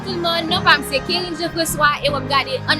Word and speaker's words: Karine: Et non, c'est Kérin. Kérin? Yes. Ça prononce en anglais ou bien ça? Ouais, c'est Kérin. Anglais, c'est Corinne.